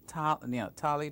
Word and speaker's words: Tali: Dali, of course, my name rhymes with Tali, Dali.